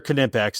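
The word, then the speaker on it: Knipex: other make sense mhm now kimpex these are kimpex and that is actually how you you pronounce it everybody's watching and they'll be like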